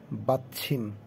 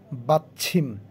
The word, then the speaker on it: 받침: চ এবং ছয়ের মাঝামাঝি উচ্চারণ ছিম, ছয় রসিকার ছি মিউম, ছিম, বাচ্ছিম।